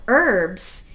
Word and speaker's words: herbs: from our seeds now herbs even though it doesn't sound like it it starts with the letter h it's a silent h even though it's there you don't say it now the fruits and